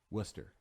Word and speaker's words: Worcester: They call it Worcester though. Huh. Worcester. Worcestershire sauce? No, Worcester, Mass. It's Worcester. That's why I could never figure out how to pronounce it because it's Worcester. Yeah.